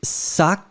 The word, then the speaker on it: sacs: Donc elle parle de 2 sacs. Souvenez-vous, sac, ici, puisque vous le mettez au pluriel, vous devez mettre le S final. Vous ne le prononcez pas, mais il doit être là.